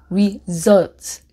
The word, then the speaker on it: result: 그래서 사실 이 단어는 그 강세가 result, 그 SU 부분에 있고, 그 다음에 이 S 자체가 S 소리가 아니라 Z 소리예요.